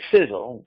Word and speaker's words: Sisel: welcome to sizzle International pronounced like sizzle si z z le like a sizzling hot steak on the barbie fiddle spelled SI SEL is an acronym for